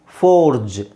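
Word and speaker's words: forge: ಬಿಟ್ಟು ಅಲ್ವಾ ಸೋ ಇಲ್ಲಿ ಜಿ ಇ ಅಂತ ಕೊನೆಯಲ್ಲಿ ಎಂಡ್ ಆದ್ರೆ ನಾವು ಅದನ್ನ ಜ ಅಂತಾನೆ ಹೇಳಬೇಕು ಓಕೆ ಸೊ ಉದಾಹರಣೆಗೆ ಯಾಕೆ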